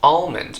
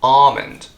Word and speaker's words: almond: not salmon but salmon salmon the L here is silent just like alond the out there is also silent it's not almond but alond but but of course I know many of